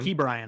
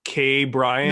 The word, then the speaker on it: Ke'Bryan: There's Ke'Bryan an emphasis Hayes. on the key part. Ke'Bryan. I didn't know if it was like K Bryan or Ke'Bryan or. I definitely don't think it was ever Ke'Bryan. But Ke'Bryan, yeah, Ke'Bryan is the way to pronounce it.